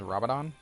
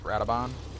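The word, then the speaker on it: Radobaan: Okay, this is, I believe his name is Rabadon. Or Radabon. Yeah, it's Radabon. I always pronounce it backwards.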